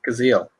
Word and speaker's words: Cazale: John Cazale, if I'm pronouncing it right. Cazale. Oh, Cazale.